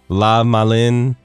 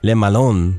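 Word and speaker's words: Le Malin: my final form now we progressed from pronouncing Lee Malone's name like Lama Lin and then we said Liam Allen now our final form actually pronouncing it correctly let Malone because if you you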